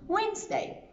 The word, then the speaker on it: Wednesday: day is today wednesday but remember we write it with nice day but we pronounce it wednesday pretty tricky and we